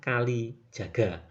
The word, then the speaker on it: Kalijaga: Dalam perkembangannya julukan Sunan Kaliyuga bergeser pelafalannya menjadi Sunan Kalijaga.